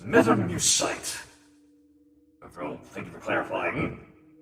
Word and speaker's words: Mutamycete: Pronounced metamucite.